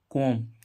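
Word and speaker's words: comb: इसमें भी ऐसे ही सी ओ एम बी कोम कोम मींस क्या होता है कंगा तो देखो इसमें बी से पहले क्या आया एम तो बी साइलेंट है बी का उच्चारण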